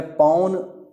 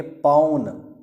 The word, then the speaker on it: पौन: है भल्लुक फिर है पौन देखिए एक मात्रा होगी तो बोलेंगे पौन और दो मात्रा होंगी तो बोलेंगे पौन औ दो मात्रा वाला सही सही उच्चारण देखिए बहुत जरूरी है